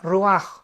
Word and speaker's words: ruach: es la palabra hebrea roaj, que se escribe r u a c h. Ruach, pero se pronuncia Ruaj.